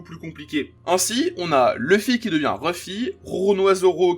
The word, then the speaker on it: Luffy: Par exemple, quand on lit Monkey D. Luffy littéralement dans son écriture en japonais, on lit Monkey D. Ruffy.